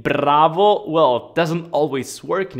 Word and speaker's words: bravo: so i know that in english you pronounce it as bravo but in italian we roll our r's so we say bravo bravo now remember that in